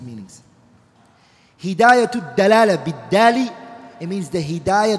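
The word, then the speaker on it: دلالة: Because the word dalala is bidali, is dal. And if you say dalala as a dad, which is another makhraj, the meaning become two opposite meanings. Hidayatu dalala bidali, it means the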